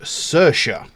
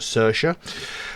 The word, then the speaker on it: Saoirse: a new track called cersa now it might not look like it but that is how it's pronounced some people might not know that that is how it's pronounced cersa uh it goes along